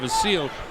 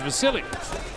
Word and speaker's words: Vasyl: some people call him the seal but it but he says and the people around say his name is Vasily well Nicky even spells